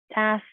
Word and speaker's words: tasks: this next word tasks it has a little difficult pronunciation but it is important to say each letter tasks tasks it's a little